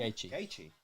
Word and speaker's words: Gaethje: Gaethje.